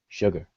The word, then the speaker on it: sugar: We spell the word sugar with just an S and then a UGAR, sugar. But we pronounce it with a SH, but it's only an S there.